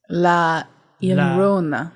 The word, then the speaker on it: Llorona: LLarona. LLarona. LL is a Y sound.